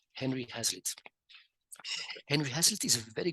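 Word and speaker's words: Hazlitt: how do you spell the second name Hazlet is spelled h a z l i Double T Henry hazlitz Henry hassle is a very good writer he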